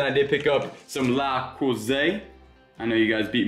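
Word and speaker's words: Le Creuset: Then I did pick up some La Cousée. I know you guys beat me up on the last time I said La Croisette and pronounced the T, but in really good condition here.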